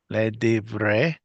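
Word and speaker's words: לדברי: Le de le de ver Le divre. Le divre. le devre. There you go. Silent shava, unless you know it should be pronounced.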